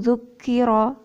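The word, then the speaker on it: ذكر: Nah, tadi ronya ya. Ronya harus dibaca pendek. Wa man azlamu mimman zukiro ya. Zukiro bi ayati rabbih. Nah, roknya harusnya pendek.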